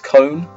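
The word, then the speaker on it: Kon: and they went what it's con from Bleach I was like oh apparently I say it wrong apparent it's cone I've always I've only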